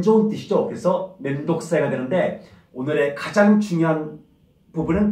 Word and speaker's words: 面倒くさい: 그래서 멘독사이가 되는데, 오늘의 가장 중요한 부분은 발음입니다. 발음. 멘독사이. 과감하게 멘독사이, 사이라고 발음해 주시기 바랍니다.